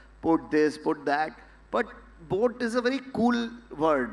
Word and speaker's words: boAt: nobody can mispronounce a boat yeah right whatever you try sometimes just people say bow at or something because of the capital A but otherwise it's bored and why did I